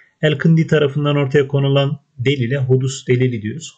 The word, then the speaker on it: hudus: Elkındi tarafından ortaya konulan delile hudus delili diyoruz. Hudus şuradaki S arkadaşlar, şuradaki S Arapçada peltek olarak telaffuz ediliyor.